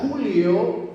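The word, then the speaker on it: κυλίω: En Mateo 27:60, Mateo usa una palabra griega que se pronuncia culio, y culio significa rodar.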